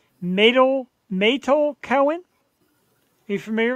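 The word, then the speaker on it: Meytal: I make sure I say her name right matal matal Cohen are you familiar with her at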